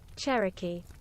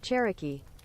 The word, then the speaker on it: Cherokee: you say that joke it's not key right it's not like the Cherokee oh the well let's see what the American is Cherokee Cherokee okay so it's the